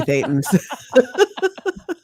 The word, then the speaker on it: thetan: body thetans. Well, Thetan does rhyme with Satan, just That's saying.